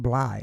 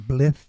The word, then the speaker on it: Blythe: Yeah, don't let the last name fool you because it's pronounced Bllye and not Blleith or Ble or any of that stuff or Blut.